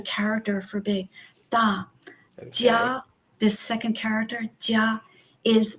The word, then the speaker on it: 家: The character itself is pronounced jia, jia.